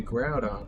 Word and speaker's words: Groudon: Some people pronounce it Grudon, which I don't quite agree with or understand, but you know, it's supposed to be Groudon, like ground, you know, like think about it.